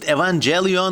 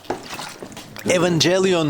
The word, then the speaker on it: Evangelion: I don't pronounce it as Evangelion because in the part of the world where I am from, if you have the letters Evangelion, this is read as Evangelion. I'm very sorry, I cannot for the life of me pronounce it Evangelion.